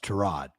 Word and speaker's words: Tyrod: His name's pronounced Tyrod.